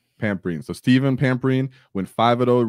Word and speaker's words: Pampreen: Pampreen.